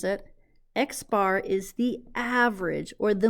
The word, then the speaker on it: X bar: a test the X bar that's how we pronounce it X bar is the average or the mean and in